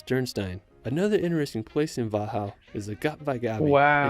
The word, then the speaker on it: Wachau: After we're going to visit nearby Wachau. I would not have pronounced that way.